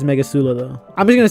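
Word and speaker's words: Megicula: know here we are make akula being that it it feels like I'm not supposed to pronounce it like that but someone said that's how you pronounce it so I'm trusting you it just does not sound as good as Mega Sula though I'm just gonna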